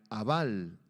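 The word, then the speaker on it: אָבַל: apunta la palabra aflicción es la palabra hebrea aval a b grande a L con acento en la segunda a aval jabal se pronuncia en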